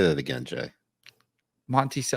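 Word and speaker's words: Monticello: have to say anything no it's Monty C that's how you pronounce the way it's spelt mon T cello all right I'm just gonna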